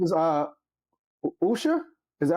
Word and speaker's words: Usha: But her name is uh Usha. Is that how you pronounce it? Usha. Is it Usha? Yeah. You ask. Yeah. Usha.